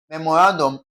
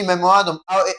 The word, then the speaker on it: memorandum: Option B, we're having memorandum, mo stressed, also wrong. Option C, memorandum, ran stressed, okay? That shows option C is the answer because they are stressing the second to the last syllable.